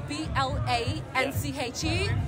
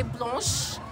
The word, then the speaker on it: Blanche: But you can find me on Instagram, Captured by Blanche. Yeah. That's B-L-A-N-C-H-E. Others say Blanche. Americans say Blanche.